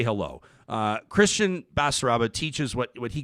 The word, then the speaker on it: Kristian: for having me am i pronouncing am i pronouncing your name okay christian yep okay this is okay are these these